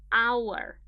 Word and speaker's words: hour: H is not a vowel, not at all. But pay attention to the pronunciation. An hour. Ah. The first sound that you hear is a vowel.